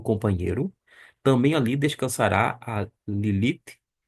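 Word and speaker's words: לילית: Lilite. Lilite é a pronúncia do termo que nós encontramos aqui.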